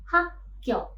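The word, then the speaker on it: 학교: Contohnya pada kata hak kyok. Nah, konsonan kyok itu berada di bacim dan ada juga konsonan kyok di initial positions. Sama ya. Maka konsonan kyok yang di initial positions itu berubah menjadi sang kyok. Jadi bukan lagi kyok initial positionsnya waktu kita melafalkannya itu berubah menjadi hak kyok.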